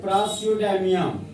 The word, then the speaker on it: प्रासियोडाइमियम: Cerium का atomic number 50 है, इसको पढ़ते हैं प्रासियोडाइमियम। प्रासियोडाइमियम स्पेलिंग देखो, प्रासियोडाइमियम, जिसका एटॉमिक नंबर कितना है 59।